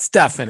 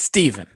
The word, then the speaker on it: Stephen: stefan is it's not stefan it's stephen it is stephen yeah yeah exactly stephen